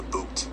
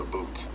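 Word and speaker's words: bhoot: Everyone kept saying the boot, the boot. It's spelled B-H-O-O-T.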